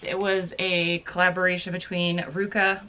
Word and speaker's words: RVCA: It was a collaboration between Ruka, which is RVCA, that's how you pronounce it, and Alex Nost.